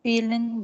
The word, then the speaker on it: Vielen: Vielen Dank or Vielen Dank. Danke. Vielen Dank. Dank. Vielen Dank.